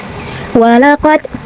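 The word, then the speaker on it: وَلَقَدْ: Di sini ada hukum tajwid namanya qalqalah sughra. Karena ada huruf qalqalah yaitu dal yang sukunnya itu sukun asli dan ada di tengah bacaan. Maka cara bacanya adalah dipantulkan dengan pantulan yang kecil seperti walaqad jaa.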